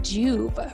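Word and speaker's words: Joovv: to say 15 this episode is sponsored by juve red light therapy it's a natural form of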